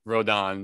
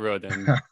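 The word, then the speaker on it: Rodón: side note i think i mispronounced his name once again rodon not roden jesus christ but i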